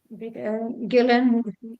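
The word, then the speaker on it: Guylaine: they can reach me in my LinkedIn Gillan fer Gillan just like in French in in England you pronounce it like g i l l n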